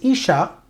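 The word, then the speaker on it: אשה: iode et sean et le mot pour femmes qui se prononce icha s'écrit avec les lettres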